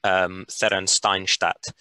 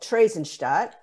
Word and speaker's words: Theresienstadt: on to another camp, Therrensteinstadt. what can you tell us about the conditions in that camp, and how did it differ to Westerbork? Okay, so that camp is called Theresienstadt in the German pronunciation.